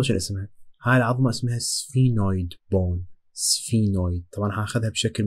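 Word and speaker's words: sphenoid: سفينويد، ذكروا سفينه، سفينويد بون، شيء نطقها بس هي تنطق سفينويد.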